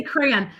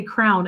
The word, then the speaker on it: crayon: time for how I I used to say crown actually and now I try so hard to say it correctly, but that's awesome that you say cray. I know. I guess depending on where you live, you might say it different, too, huh?